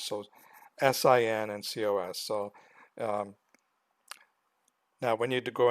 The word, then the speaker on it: cos: And cos would be how you pronounce this.